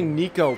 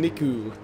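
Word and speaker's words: Niko: I can't say Nico properly. I keep saying Niku. That's not how you pronounce that.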